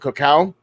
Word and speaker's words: cacao: and her business with the Koch how is that how you say it cacao yeah we've talked with